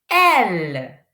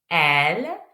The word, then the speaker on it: elle: On ne prononce pas E. Ch. L. L. L. L. That means she. Elle.